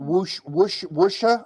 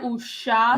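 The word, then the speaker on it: wuxia: But kind of pull your lips back a bit instead of usha. Wusha. Like that.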